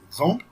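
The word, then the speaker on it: example: حرف الاكس ممكن يتنطق كانه جي وجنبها اس، او كانه يتنطق كا وجنبها اس، وخدنا الاكزامبل عليهم هما الاثنين.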